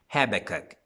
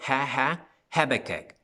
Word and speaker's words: Habakkuk: No estoy seguro si así se pronuncia en español, Habacuc, pero en inglés es Habakkuk. Como que te estás riendo, Habakkuk, Habakkuk.